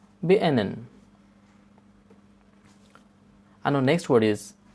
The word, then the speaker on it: beenden: And remember, here D is silent too. Beenden.